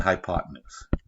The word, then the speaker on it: hypotenuse: you didn't know that it's the hypotenuse hi pod 10news and least these three